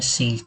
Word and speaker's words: C#: Jadi kalau Unity itu menggunakan script yang namanya C# ya, tulisannya C crash tapi bacanya C#.